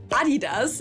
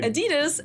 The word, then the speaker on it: Adidas: I'm talking about Adidas, as we say in German, or Adidas, as Americans say.